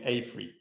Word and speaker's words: AFRY: we have progressed here um and we actually pronounce it a3 now okay uh so it was created in